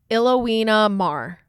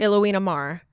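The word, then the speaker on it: Ilona Maher: And my favorite one is, I looked up the pronunciation of her name. It's Ilowina Mar. Okay. Ilowina Mar.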